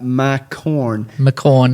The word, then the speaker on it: McCorn: So we have with us today Sasha McCorn. You literally said to me, it's pronounced like Mac and corn. McCorn, as in corn of the cob.